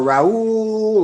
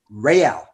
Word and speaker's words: Real: weird name everybody wanted to call me rey or raoul or and she was like it used to embarrass me as a kid because she's like like she's having no his name is real say it right right you know what's